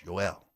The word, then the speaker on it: Joel: It's not Joel. It's not pronounced Joel. It's Joel. Joel. Kivirante. It's a Y.